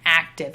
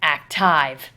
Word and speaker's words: active: And active is the same way. We have that I, consonant, E, silent E pattern. And you would think it would be active, but it's pronounced active.